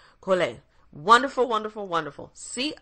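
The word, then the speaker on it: Collet: sure I am cuz they in France you don't pronounce the the team cool a wonderful wonderful wonderful CE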